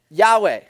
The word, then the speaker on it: Yahweh: a couple but that that is how it's pronounced yahweh you know every time you read yahweh in